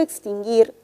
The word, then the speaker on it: extinguir: u pero la palabra extinguir solamente se menciona o se pronuncia la y la u no tiene sonido porque repito porque la palabra extinguir la 1 se pronuncia solamente es parte de un dígrafo por lo tanto ese